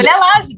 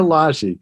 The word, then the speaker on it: Lage: Julia Lage, that's it. Julia Lage.